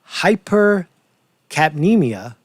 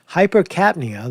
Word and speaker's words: hypercapnia: here's the terms again hypercapnemia catnia excuse me i added a a a i added a syllable hypercapnia that's uh elevated co2